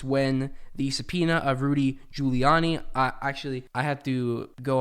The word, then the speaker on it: Giuliani: on a YouTube video it's pronounced Giuliani not goo Leone so thank you very